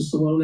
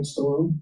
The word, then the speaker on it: Stallone: Guys, Jay Will, Sylvester Stallone, that's how you say it, right? Stallone?